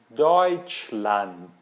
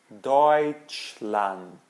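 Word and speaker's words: Deutschland: som de Oi por exemplo deut deut ou deutchland deutchland Alemanha ou oo oiro tá eu sei que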